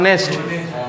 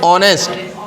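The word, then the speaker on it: honest: हमारा क्या होता है अब इसको बहुत लोग पढ़ते हैं नेस्ट नेस्ट नहीं है एच इसमें क्या है साइलेंट ऑनेस्ट ओ वावेल साउंड मिल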